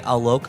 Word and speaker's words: Alok: they them pronouns um tell me a joke alok is something that they have said to remind you how to say their name uh they were born